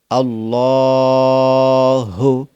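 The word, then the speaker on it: الله: জবর লা হাফেজ হু আল্লাহু অর্থাৎ লামের উপরে খারা জবর এটা এক আলিফ টান দিতে হবে পরে হা আল্লাহু আল্লাহু এখন আমি যেভাবে দিলাম আপনাকে এভাবে দিতে হবে আল্লাহ লামটাকে ফুর করতে হবে আল্লাহু আল্লাহু হামজা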